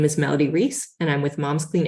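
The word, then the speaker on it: Melody Reis: on your testimony sure it's Melody Reese m-e-l-o-d-y-r-e-i-s so thank you for the opportunity to testify my name is Melody Reese and I'm with Mom's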